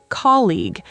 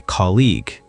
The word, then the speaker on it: colleague: The pronunciation is colleague. The g e at the end is silent. Yes, it does not sound like goo. It is simply colleague.